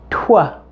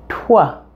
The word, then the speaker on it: twelve: with the T sound the word 12 is a little bit different since it begins with a blend of two consonant sounds both a tea and a W so your mouth will actually pronounce the T with the rounded lips of the W sound the T and W are combined into one sound here now try it with